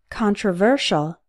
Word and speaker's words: controversial: consequence contact contract controversy controversial notice that the stress changes in controversy the stressed syllable is con but in controversial the stressed syllable is ver yet the con is